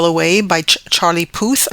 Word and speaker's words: Puth: Then I got the song One Call Away by Charlie Puth, I think is how you pronounce his last name. It's Puth.